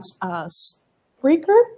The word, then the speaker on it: Spreaker: You can get it on Spreaker. Is that how you pronounce it?